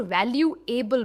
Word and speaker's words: valuable: It is not valuable, भले इसकी एंड में able है, हम able नहीं कहते, बल में इसका एंडिंग है, valuable.